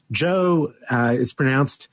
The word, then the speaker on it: Geo: Joe it's spelled Geo and pronounced Joe, Gamow.